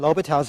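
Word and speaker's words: L'Hôpital's: In L'Hopital's own time, he would have written this way with an S here, even though the S is silent.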